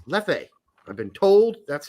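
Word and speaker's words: Leffe: am drinking once again my last bottle of lefe hmm and no it's not pronounced left or left oh it's lefe I've been told that's how it's pronounced by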